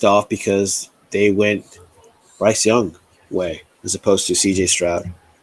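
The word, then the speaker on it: Younghoe: the field and even though his name is pronounced young way it's spelled young ho cou hit a walk-off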